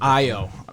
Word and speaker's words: Ayo: Ayo, that's his name. Ayo's cool to say, but Ayo, we got to show him his respect. That's how you pronounce his name.